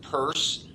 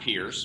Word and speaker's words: Peirce: And you are Peirce, pronounced Peirce, not Pierce, but you're following the pronunciation of the famous philosopher Charles Sanders Peirce, to whom you are distantly related, we might add.